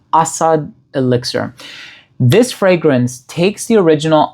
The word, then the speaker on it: Asad Elixir: I realize that you put the emphasis on the first syllable, so it's trochaic as opposed to iambic. Asad Elixir.